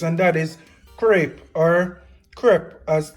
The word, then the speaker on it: crêpe: And that is crepe or crepe as it's actually pronounced.